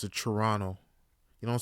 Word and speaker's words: Toronto: mayor in my city Toronto that's how you pronounce it Toronto you don't say Toronto Toronto that's how you say it and low